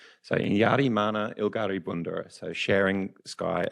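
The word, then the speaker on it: Inyarrimanha Ilgari: bit of a mouthful so just breaking it up phonetically there you've got any yardi what do you like the rolleraz a bit so it almost sounds like a bit of a D sound so in Yari Mana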